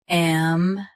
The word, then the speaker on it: ambiguous: Ambiguous. Ambiguous. Stress big. Keep U clear and finish with us.